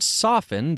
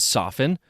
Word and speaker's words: soften: now with the word soften there is no accepted pronunciation in Oxford that includes the T sound so the T and soften should always be silent